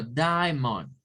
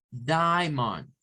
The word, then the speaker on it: diamond: y es una sílaba esa a que está ahí en medio es muda no se pronuncia entonces Esta es una sílaba la a no la vamos a tocar y la final si se pronuncia entonces Cómo se pronuncia diamante en inglés como Diamond Diamond Diamond entonces algunos Ya me